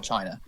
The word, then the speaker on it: Qin: Who is now in the best position to control China? Shikoku. I disagree. I'm gonna say the Chin. The Chin without a G.